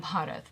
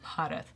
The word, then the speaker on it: Bharat: So if you over enunciate, then you start saying Bharat. Bharat. Yeah.